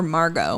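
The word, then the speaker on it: Margaux: right Megan right or Margot my sister my cousin's name is Margo m-a-r-g-a-u-x okay I don't know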